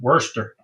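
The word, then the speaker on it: Worcester: mama mama uh Mama Teresa corrected my my pronunciation Worster Worster wor yeah and speaking of uh I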